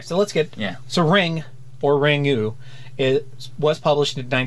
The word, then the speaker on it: Ringu: And apparently it's just pronounced Ring. Yeah, apparently the U is like, whenever you translate something from Japanese into English, there's like this little noun at the end. Noun? I don't think noun is noun, the word. Yeah. Vow, Daniel. Vow. Okay. And it's more of a guttural sound than an actual ooh.